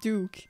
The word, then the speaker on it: Doc: Doc is actually pronounced Duke.